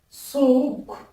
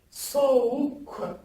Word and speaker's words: soğuk: C'est-à-dire, il ne se prononce ni G, ni G. Comme exemple, je vous ai cité, et entendez bien, soğuk. Comme vous le voyez, soğuk, qui veut dire le froid. Répétez après moi, soğuk.